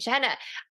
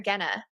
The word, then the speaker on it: Genna: All right, so with me today, I have Vincent Genna. Vincent, I didn't even ask you how to pronounce your name. Is it Genna or Genna? No, Genna, you said it right the first way, so that was very intuitive of you.